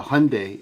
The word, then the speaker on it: Hyundai: you guys say that uh hyundai is uh the korean pronunciation yeah it's a bird